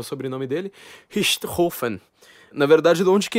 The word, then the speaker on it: Richthofen: era o sobrenome dele, Richthofen. Na verdade, de onde que ele era, a pronúncia é um pouco diferente da minha, né? Richthofen.